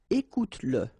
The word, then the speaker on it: écoute-le: the pronoun le, and if it comes after your verb, like in that case, then you will have to pronounce it. Okay, so regarde-le, regarde-le, all right, regarde-le. Écoute-le, okay, écoute-le.